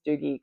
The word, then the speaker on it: Dougie: And that's how you pronounce that name in Scotland, not Douggee. So it's Doogie kind of like Doogie.